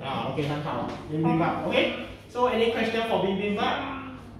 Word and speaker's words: bibimbap: OK，这 bibimbap 是韩国的炸饭。OK，怎么读？bibimbap。 OK，很好，bibimbap。OK， so any question for bibimbap？